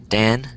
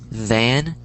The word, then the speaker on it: than: Dan and den. That's how people are pronouncing it, but it's than and then.